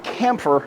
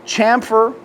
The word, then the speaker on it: chamfer: Now, chamfer. Camper. Two different pronunciations of the same word. Most of your northern folks I have heard say chamfer. I have heard a lot of the southern smiths say camper.